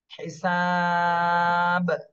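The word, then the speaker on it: حِسَابٌ: যেহেতু সাকিন হয়ে যাচ্ছে এজন্য এখানে কলকলা করতে হবে হিসাব হিসাব দুইটা ঠোঁটটা ধাক্কা দিতে হবে হিসাব হিসাব এইভাবে এরপরেরটা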